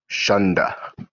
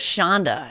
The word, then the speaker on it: shanda: to use the word shunda? Just curious. I've always heard it as shanda. It's a shanda. But it's actually either, because it's Yiddish. You can spell it any way it sounds to your ear.